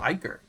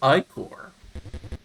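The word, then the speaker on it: ichor: can fill it with magical ier that's pronounced ior choose your ier wisely uh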